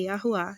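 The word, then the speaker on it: יהוה: Mas em hebraico antigo, a pronúncia é Yahuá, simplesmente assim, tá ok?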